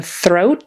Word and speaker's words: throat: that's not too bad you put your tongue out for the th and then you got to get your tongue way back in the back to make the r but it's doable throat throat thread all